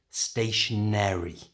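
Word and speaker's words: stationery: the time is stationary can you hear there's a little ER at the end stationary and this is used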